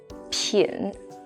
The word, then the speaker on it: 品: This one is pronounced as 品.